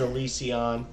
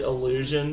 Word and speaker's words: Elysion: And I also disagree with the way they pronounce that. That is Elysion all day long. Calling it Illusion.